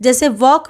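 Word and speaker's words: walk: नि है यानी कि एल का उच्चारण नहीं हो रहा ये अनुचर है लेकिन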